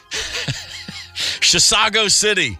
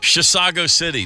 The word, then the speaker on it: Chisago City: who's listening up in Chisago City. You did it! I said it right. Yes. Chisago City. Now it's just a matter